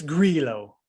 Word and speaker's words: Grillo: benign and easy as like a guy's name pronunciation that you get wrong. So I always do that. And again, anyways, it's Grillo.